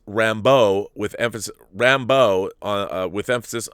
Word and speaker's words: Rambeau: Rambeau, it was pronounced Rambeau with emphasis. Rambeau with emphasis. It's not Rambo. It's Rambeau with an emphasis on the second syllable, since it's a French thing, not Rambo from the Stallone movies.